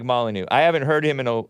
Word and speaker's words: Molyneux: I think it's just pronounced Molyneux with no X.